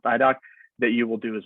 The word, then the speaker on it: IDOC: css or the idoc that's idoc but pronounced idoc that you will do